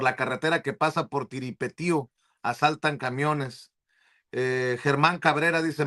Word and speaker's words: Tiripetío: No, los normalistas de Tiripetío, ¿es así cómo se pronuncia, Tiripetío? Sí, sí.